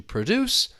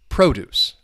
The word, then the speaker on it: produce: two syllables, generally speaking, the verb is going to be stressed on the second syllable to produce and the noun is going to be stressed on the first syllable produce.